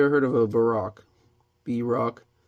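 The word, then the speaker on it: Bierock: B-Rock. Not sure how to pronounce it. I pronounce it Brock, like, the guy from Pokemon.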